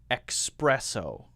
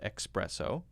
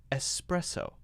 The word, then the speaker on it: espresso: lot of people say, espresso. Espresso. But it's not called espresso. There's no X in espresso. It's actually pronounced espresso.